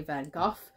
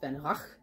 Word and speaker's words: Van Gogh: No one really says Van Gogh correctly. Americans say it kind of as the French pronounced it, and the British say Van Gogh. But I asked a person from, I think, Amsterdam, and they said there it's pronounced Van Gogh or something.